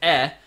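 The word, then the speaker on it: へ: so the he particle it's actually pronounced e but it's written as a he um means just towards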